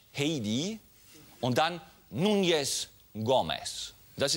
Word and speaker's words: Heidi: Man könnte glauben, sie heißt Heidi. Falsch. Heidi.